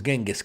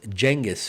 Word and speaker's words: Genghis: in what century was genas Khan born actually it's pronounced jengis or jengus Khan 9th century 10th Century